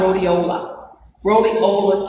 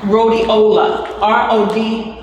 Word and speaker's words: rhodiola: Don't let me forget about rhodiola tea.